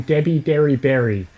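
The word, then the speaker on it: Debi Derryberry: many outtakes he had to say the name Debbie Derry Berry.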